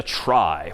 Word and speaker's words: trie: most part and that's known as a try which is somehow short for retrieval even though that's pronounced somewhat differently but try just means